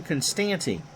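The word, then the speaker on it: Konstanty: and by the way it is by the way jim constanti so if you think of constantinople that's how you say it pitch to coleman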